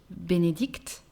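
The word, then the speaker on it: Bénédicte: could be benedict benedict and the pronunciation is the same for the feminine version benedict but we add an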